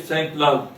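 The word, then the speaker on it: Sainte-Laguë: They have adopted in 2014 that the French mathematician, his name is André Saint-Lague, I pronounce it French pronunciation, and André Saint-Lague, Right.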